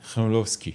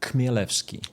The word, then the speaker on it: Chmielewski: So we pronounce it like Chmielewski. Chmielewski. Chmielewski. For foreigners, sometimes it's easier to say Chmielewski. Yeah. With K in front.